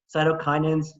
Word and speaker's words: cytokinins: a very important term cytokinins sounds like the word cytokinesis which is cell division